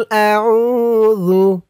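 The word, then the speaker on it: أعوذ: জাল পেশ জু। জু, জালের উচ্চারণটা একদম নরম হবে। জিহ্বার মাথা উপরের দাঁতের মাথার সাথে লাগবে জালের এই উচ্চারণটা করার সময়। আউযু।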